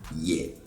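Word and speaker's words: yɛ: The tone on that ye was on the high side. Okay? Ye adwene. So that ye is the action verb to do or to make, like we mentioned before. But if we bring the tone down on it, we have ye. Ye. And this is one of the to be verb forms that we have in Chi.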